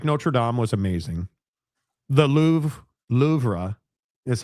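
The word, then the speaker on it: Louvre: The Lou Lra is how it's pronounced. Go back to that again. Louver was amazing.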